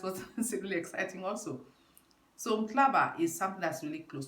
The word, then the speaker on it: Mhlaba: Mhlaba, pronounced Mhlaba, spelled M-H-L-A-B-A, Mhlaba.